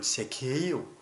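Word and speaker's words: Zacchaeus: 우선 이 삭개오라는 이름을 영어로 발음하면 여러분 제케이오, 저는 이 삭개오 이름을 처음 영어로 듣고 나서 누군지 몰랐어요.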